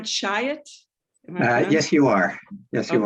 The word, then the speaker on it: Chiat: Chiat?